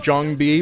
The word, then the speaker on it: JangBi: player fantasy and Jang B which is actually pronounced Jang B but I've been pronouncing it D Jang B for so long that I can't stop now